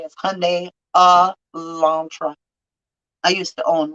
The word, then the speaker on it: Hyundai: That's all you got to say is Hyundai Elantra. I used to own one as the only reason, and I had to be taught how to say it because it's weird.